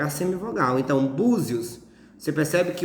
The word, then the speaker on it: Búzios: Por exemplo, Búzios, a penúltima sílaba é bu. Então, o acento vai ser no U.